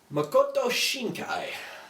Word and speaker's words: Makoto Shinkai: I have to pronounce this director's name right because I do it wrong all the time. Makoto Shinkai.